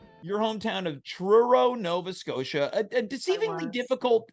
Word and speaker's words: Truro: your hometown of Truro Nova Scotia a deceivingly difficult uh city name to pronounce I know it is it sounds like churro yeah but it hasn't